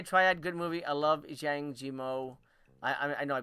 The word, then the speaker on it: Zhang Yimou: I love Zhang Yimou. I know I butchered that. Zhang Yimou.